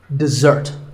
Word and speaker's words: dessert: We stress the second syllable, dessert.